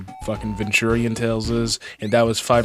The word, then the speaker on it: Venturian: I can't get over the fact that this guy pronounced Venturion as Victorian tale.